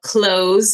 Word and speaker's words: CLO: All right, let's talk about close or CLLO's. I think close is the right way to say it.